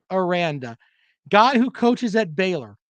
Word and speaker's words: Aranda: else or renata sorry baylor man i didn't pronounce his name correctly or ronda okay his name aranda god who coaches at baylor there you go